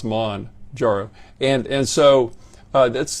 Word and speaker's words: Mounjaro: medicine so Manjaro is expelled m-o-u-n-j-a-r-o but it's pronounced Mon jarrow and and so uh that's the the drug